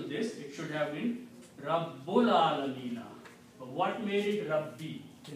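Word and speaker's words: رب العالمين: Al Alamina will be pronounced as Rabbul Alamina.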